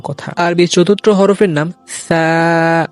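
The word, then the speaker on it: ث: আরবি চতুর্থ হরফের নাম সা। এই হরফটি উচ্চারণ করতে আমার অনেকেই ভুল করে থাকে, যেমন আমরা সা এরকম না বলে আমরা বলি সা সা, এরকম উচ্চারণ একেবারেই ভুল।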